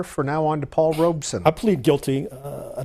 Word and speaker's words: Robeson: duberman a biographer of Robson I've heard him speak on book TV uh Pete Seager Harry bellante Arnold reran um they all uh use the what I consider the correct pronunciation two syllables all right Emily thank